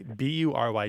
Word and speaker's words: bury: I think I'm going to make it follow the more typical pronunciation of the U and pronounce this as bury. It's going to be bury. Like fury and jury.